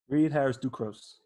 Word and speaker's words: Reid Harrison-Ducros: Reid Harrison-Ducros.